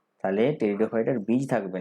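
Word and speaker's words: Pteridophyta: সেরকমই একটা কথা আছে টেরিডোফাইটা, পিটা উজ্জ্ব থাকবে, উচ্চারণ করতে হবে টেরিডোফাইটা, তাহলে এই পিটা ভুলে যাও, টেরিডোফাইটা।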